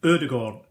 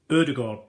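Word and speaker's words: Ødegaard: Sometimes it's easier just to say the name, and it's Martin Odegaard. Odegaard. Odegaard.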